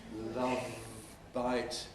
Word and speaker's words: love bite: Nice to have a love bite. We require the V and then the B.